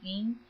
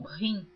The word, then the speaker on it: hin: Eu quero deixar aqui, eu gosto de esclarecer que esta palavra hin está escrita H-I-M. Alguns pronunciam rim, mas eu estou lendo como está escrito em português, porque eu